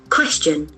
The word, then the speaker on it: question: Question. Question. As we know, the letter Q doesn't have any sound. K will be compensating that. Question. Question. The accent falls on the first syllable.